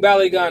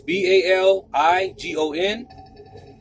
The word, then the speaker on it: Baligon: King Baligan is Baligon.